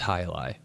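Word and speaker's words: jai alai: But it's J AI space a L AI but it's pronounced hili.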